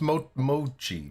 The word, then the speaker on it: mochi: No, Mochi?